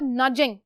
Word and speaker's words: nudge: तो that is called नजिंग, नज करना। ठीक है, डी साइलेंट होता है, नज करते हैं।